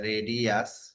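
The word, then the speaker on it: RADIUS: protocol আমরা দেখলাম যে রেডিয়াস এভাবে প্রোনাউন্স করে আর কি আর ট্যাক প্লাস হচ্ছে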